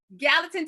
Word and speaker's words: Gallatin: can tell me if I say it wrong, Gallatin, Tennessee. That's right. Okay, Gallatin, Tennessee, but she has kept her Southern charm.